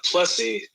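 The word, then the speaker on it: Plessie: ahead go ahead uh plessy i guess it's it's supposed to be like plesiosaur that is correct and they yeah they changed its blessing which rhymes with nessie okay yeah you figured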